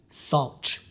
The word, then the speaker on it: Saltch: It's pronounced Sulch. The A is just upside down to represent a salt shaker.